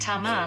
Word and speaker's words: Tamar: My biblical Hebrew is a little rusty, but according to modern Hebrew pronunciation it would be said Tamar, like the name Tamara.